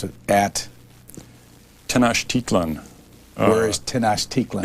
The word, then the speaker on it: Tenochtitlan: Chapter 3, Cortez and Moctezuma, and you're going to have to pronounce it at? Tenochtitlan.